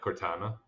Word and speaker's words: Cortana: Uh Like, Mother Brain and Cortana coming together. Am I saying it right? yeah, Cortana.